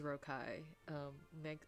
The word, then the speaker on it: Rocaille: I can't remember the pronunciation. Okay, it is Rocaille.